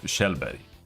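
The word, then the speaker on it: Kjellberg: bother like sex tourism Felix Arvid Shelby that's how you pronounce that Swedish has very simple uh pronunciations American is very it's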